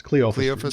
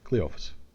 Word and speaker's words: Cleophus: Well, it's Cleophus. It's Cleophus. No. No, Cleo I want you to say it like this. Cleo Cleo O O phus. Cleophus.